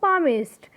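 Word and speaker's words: palmist: पामिस्ट। यहाँ पे L silent है, पामिस्ट।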